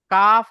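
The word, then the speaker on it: قاف: জি হুজুর, জিভের গোড়া হইতে একটু আগিয়ে উপরে তালুর সাথে মিলিয়ে উচ্চারণ হয় কফ। কফ নয়, কাফ।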